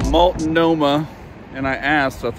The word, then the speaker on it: Multnomah: Multnomah, and I asked, that's how you say it, Multnomah Falls.